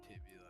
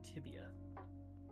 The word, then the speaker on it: tibia: Dude, even if you res me, I have a broken tibula. I probably It's fibula and tibia. Oh, I was saying it wrong.